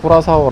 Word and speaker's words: Curaçao: Algunos llaman a esta isla Curaçao, y creo que las personas de habla inglesa o francesa la pronuncian así. En coreano también se escribe como "Qu-ra-so", pero en realidad, aquí en Latinoamérica, en las zonas de habla hispana, le dicen "Curazao". Algunos también le dicen "Corazao", pero yo decidí llamarla "Curaçao" para seguir la notación oficial en coreano.